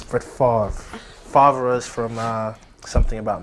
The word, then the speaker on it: Favre: Brett Favre. Is that how you say it? No, it's Brett Favre.